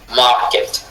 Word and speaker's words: market: Prochain, market. Mar accentué quê non accentué.